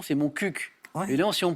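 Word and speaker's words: Montcuq: C'est chouette de pouvoir dire mon cul à la télé.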